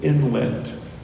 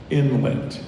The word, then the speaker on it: inlet: Your word is inlet. Inlet can also be pronounced inlet. Inlet or inlet.